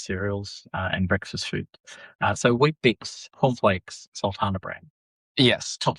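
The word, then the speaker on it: Weet-Bix: So Wheat Bix, wheat, which sounds healthy, you know, Wheat Bix is spelled WEET. Yes. So it's not actually, it's not, it sounds like wheat. It sounds healthy.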